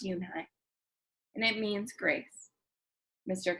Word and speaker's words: Yoonhye: Yes, it's pronounced Yoonhye, and it means grace, Mr. Kim added. Yoonhye, Joey said slowly, and this time perfectly. It made Yoonhye smile.